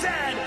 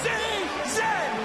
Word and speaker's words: zed: And it is pronounced Zed, not Z-Z.